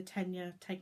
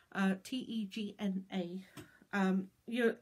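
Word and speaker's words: Tegna: B's Instagram feed I had to grab it and then I knew that I wanted to do the tenure take no tenure taekman pronounced teg and a you if you're a knitter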